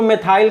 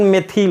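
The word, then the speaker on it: methyl: अंग्रेजी में तो हम इसको मेथाइल कहते हैं, लेकिन हिंदी में इसका प्रोनाउंसिएशन मेथिल होता है।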